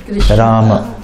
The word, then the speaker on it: Rama: Neither Ram nor Rama. So it's not that people say Hare Rama wale aaye hain. They say like that. Hare Krishna, Hare Rama. They say like that. But it is Krishna, Rama. Strictly speaking.